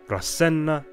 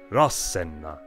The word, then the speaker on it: Rasenna: It's a major clue that Etruscan words started with a heavy accent on their first syllable. Not Rasenna, but Rasenna. Comparing translations and glosses yielded even more results.